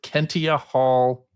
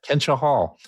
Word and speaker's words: Kentia Hall: what is your favorite Kentia Hall memory? Kentia Hall memory. Kentia Hall. Kentia Hall, by the way. Who's saying Kentia, man? I was making a joke by mispronouncing it. Kentia Hall.